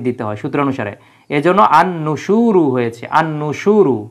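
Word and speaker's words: النُّشُورُ: হয় সূত্র অনুসারে এজন্য আন নুসুরু হয়েছে আন নুসুরু আলিফ লামের উচ্চারণ হয় না তাহলে ইলাইহিন নুসুরু মানে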